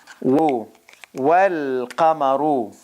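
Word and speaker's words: وَالْقَمَرُ: Wal qamaru. Wal qamaru. Okay, now here, remember, it's a moon letter. So moon letter, the lam is pronounced.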